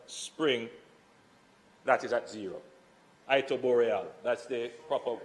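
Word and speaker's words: Iterboreale: 60% of capacity bonnygate 75% of capacity and it tooreal spring that is at zero it tooreal that's the proper pronunciation that is in South East St Mary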